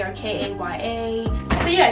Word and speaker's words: Kaya: It's Kaya. It's not Kia, it's not Kai, it's not none of that other stuff.